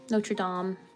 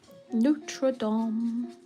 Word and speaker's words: Notre Dame: Oh yeah, that must have been like ridiculous amount of research to rebuild the the Notre Dame Notream. Whatever. I said it wrong. Notradam.